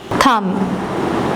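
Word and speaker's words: thumb: Knob knowledge थंब B silent है।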